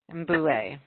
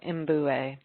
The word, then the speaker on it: Mbue: 250,000 meters of, am I saying this right? Mbolo Umbe, right? Mbue. Mbolo Mbue. Mbue, thank you.